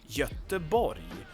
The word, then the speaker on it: Göteborg: But in Swedish it's Göteborg.